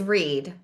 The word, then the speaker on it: Read: is that my middle name, well, my maiden name, is Reed. like one syllable.